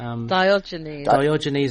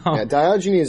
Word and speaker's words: Diogenes: my aspect which was the how did you pronounce it Rebecca do gina's Diogenes no Chinese in it yeah and I believe it I believe that's right on you 19 that sounds good that sounds good Diogenes I think is uh is is Greek yet